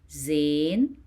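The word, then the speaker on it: زاي: Zain. Zain. You pronounce it as Z in English.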